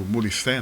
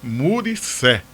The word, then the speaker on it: Muricé: Eu pronunciei errado e seu pai de saudosa memória, corrigiu. Se Manuel Lira me encontrou na rua e disse: "Olhe, quando você se referir à localidade lá de Bonito, pode falar sem medo de errar. É Muricé.